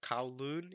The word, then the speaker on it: Kowloon: The reason I'm calling it Kulon and not Kowloon is because in the anime itself they pronounce it Kulon. So I began pronouncing Kulon myself.